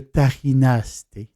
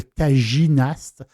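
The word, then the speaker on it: tajinaste: acheté très, très souvent, le Tarinaste. Ou, je le prononce en français, le Taginaste.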